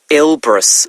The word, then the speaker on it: Elbrus: went up a mountain let's see um Mount ilbris it's called wow now that's really quite something by the way Elbrus is spelled e l b r o s isn't